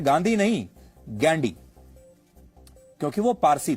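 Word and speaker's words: Ghandy: फिरोज गांधी के पिता का नाम था जहांगीर फरदून गैंडी। अंग्रेजी में वह गांधी नहीं गैंडी लिखते थे जिसकी स्पेलिंग है जी एच ए एन डी वाई गैंडी।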